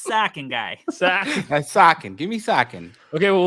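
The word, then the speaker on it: Sochan: to germany suham sohan however you want to pronounce it can we what is it how is it is it sohan bro it's sakin all right let's move on chan that's sacking guy what's up that's sakin give me sakin okay well what is it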